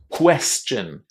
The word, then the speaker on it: question: This is really, really difficult, but you have to forget about pronouncing the O in that ending. That O is completely silent. It's just chin. And then just before that chin, there is the s sound. Sin. Sin. Quite difficult to say chin.